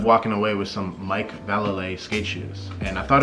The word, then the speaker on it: Vallely: I ended up walking away with some Mike Vallely skate shoes. And I thought it was Valley. I thought it was Vallely. I just looked on YouTube. The way he says it is Vallely.